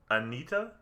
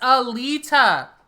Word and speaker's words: Alita: Today we're going to be talking about the movie Anita. Jesus Christ. Did I say it wrong? Yes, Alita.